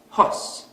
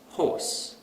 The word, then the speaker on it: horse: So we might pronounce this word as hos instead of horse.